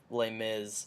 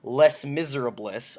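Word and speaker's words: Les Misérables: a big fan of L Miz uh the or sorry sorry I'm pronouncing it wrong it's Les Miserables uh the famous famous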